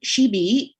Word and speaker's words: SHIBI: So SHIBI, that's how we pronounce it, is a graduate faculty in the University Brunei Darussalam.